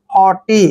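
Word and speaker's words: haughty: एच टी वाई देखिए टी से पहले जब भी जी एच आता है तो जी एच वहां पर साइलेंट होते हैं यानी जी एच का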